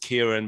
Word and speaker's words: Ciaran: mate ciaran he reckons his name is pronounced kieran but ciaran let's spout